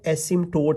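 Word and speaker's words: asymptote: इसमें जो पी है वो साइलेंट है। ठीक है? एसिमटोट इसको पढ़ते हैं।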